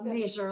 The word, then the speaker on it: Laser: Laser, like laser.